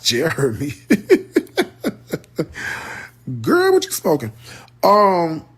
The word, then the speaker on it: Jeromie: to pronounce his name his name is pronounced Jeremy girl what you smoking